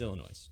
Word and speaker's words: Illinois: reads things the way it should be, Phonetically. yeah, it's Illinois.